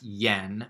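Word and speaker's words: 円: and so anyway and the old way used to be fronts yen but now they say em because I don't know the ye sound anymore and this is the kanji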